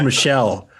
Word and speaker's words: Michel: names again all right so michael michael pereira right is that you saying yeah it's pronounced michelle like michelle pereira uh he's this guy